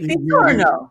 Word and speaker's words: Pizzorno: Dr do you pronounce it pitoro or pizo because my maiden name is Galo which a lot of people who Italians say galut like pizza right pizo yeah you nailed it it's all right we